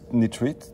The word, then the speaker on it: nitrite: We got nitrite or nitrite, sorry, let me pronounce it correctly.